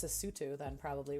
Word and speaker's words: Lesotho: is very hot okay the sotho uh am i saying it correctly listen the tsutu the sutu okay i was not